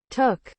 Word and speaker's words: took: Took, Took, took. Acuérdate que es como entre una O y una U. No es tanto took, es más took.